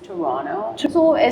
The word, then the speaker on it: Toronto: yeah I mean I think it's the right pronunciation is Toronto me and's flight got delayed by about 18